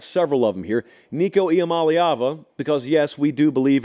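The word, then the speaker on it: Iamaleava: Well I got several of them here Nico IAM malava because yes we do believe in pronouncing college football players names right on this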